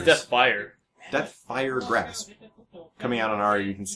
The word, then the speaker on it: Deathfire Grasp: Deathfire Graph looks like it's coming out from Ari here.